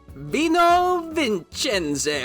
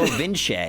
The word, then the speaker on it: Vino Vince: I gave you a title, which was Vino Vincenze. What is it? How do you say it? Vino Vince, which means wine.